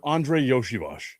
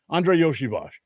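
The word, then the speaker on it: Andrei Iosivas: I saw an article yesterday talking about Bengals wide receiver Andre Yoshivash. And yes, that's how you say it, even though it's not spelled that way. Andre Yoshivash.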